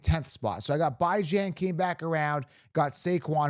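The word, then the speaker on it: Bijan: are you pronouncing it by Jan because that's how you pronounce it bi as in biweekly and ran as in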